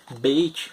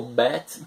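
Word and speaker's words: בית: O mesmo Beit, ou Bet, como alguns pronunciam, ele vai ter aqui também, diferente, entende?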